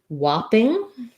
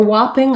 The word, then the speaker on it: whopping: She wants to know in the word whopping, why the first vowel is pronounced more like O, whereas in the word top, we can hear the A. So for whopping, I do say the ah in that as well.